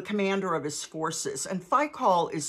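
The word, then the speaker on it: Phicol: and faicol the commander of his forces and faicol is spelled p-h-i-c-o-l um isaac asked them why have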